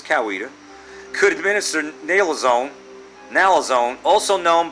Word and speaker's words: Coweta: If approved, nurses at public schools in Coweta, that's how they say it around here, even though it says Coweta, could administer naloxone, also known by the brand name Narcan, to students.